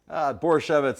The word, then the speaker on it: Borusiewicz: Borshevitz, like Oh, Manischewitz.